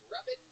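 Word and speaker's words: Ravin: It's pronounced Robin. Robin, but it's spelled R A V I N.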